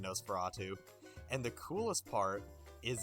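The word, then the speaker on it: NOS4A2: 4 A2 it was spelled like a license plate it's NOS the number four a and the number two as you can imagine nosprato and the coolest part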